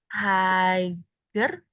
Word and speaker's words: higher: Oke, nah ingat yang tadi, berarti kita jangan digabung langsung sama IR-nya. Cara ngomong ini gimana? Hike. Hai, nggak ada GH-nya sama sekali.